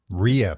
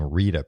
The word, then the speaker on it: Rhea: So Rhea Perlman. I was saying Rita Perlman. Yeah. RHEA.